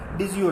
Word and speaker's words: DiSCo: बहुत सारे लोग उसको डिस्को पढ़ते हैं, हम पाकिस्तान तो डिस्को ही पढ़ते हैं, लेकिन उसकी प्रोनाउंसिएशन होती है डिजियो, DISIO।